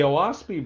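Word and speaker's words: Oahspe: declared by Palmer to validate Shaver's claims the owaspy Bible and that's spelled o-a-h-s-p-e was said to be dictated By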